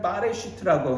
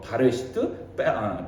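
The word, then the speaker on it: בראשית: 원래 이 창세기는 빠레슈트라고 하는데, 근데 이게 뭐 바레슈트, 빼레슈트 뭐 이렇게 발음을 하는데, 원래 이건 바라라는 이 단어에서 출발합니다.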